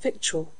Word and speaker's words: victual: Though the differences seem little, we say actual but victual.